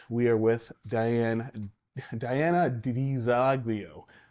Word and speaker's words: DiZoglio: in Mthoan and uh my family says Daglio. So I'm Diana Daglio.